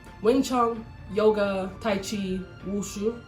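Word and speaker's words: 武术: Wushu. In Chinese, the tones for wushu, sei, are third tone followed by fourth tone. Here is exactly how to pronounce them. Wu, si, third tone. This is a dip.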